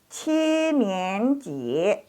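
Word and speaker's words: 七年级: Dibacanya Qinianji.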